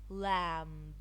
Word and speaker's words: lamb: silence be silent be be is not pronounced when following em at the end over words climb crumb lamb some it's not very